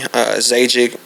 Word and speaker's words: Zajikc: Zajikc is how you pronounce it.